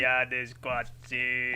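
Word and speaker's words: Koyaanisqatsi: I can never get the pronunciation right. man. Goyani Squatsu.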